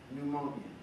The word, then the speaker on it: pneumonia: me about this word pneumonia pneumatic tell everybody spell it okay not pH p PN good now I understand what's going on here the sound is entirely different than the word spells this is messing you